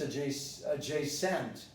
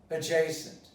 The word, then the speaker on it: adjacent: You would never pronounce this adjacent. Well, so the pronunciation is, with the stress, adjacent.